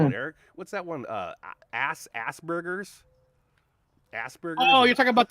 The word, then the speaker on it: Asperger's: Asperger's. Asperger's. Oh, you're talking about the Facebook guy, Zuckerberg. Well, yeah, Asperger's is another thing that they children will have if Down they syndrome? yeah, Zuckerberg has Asperger's.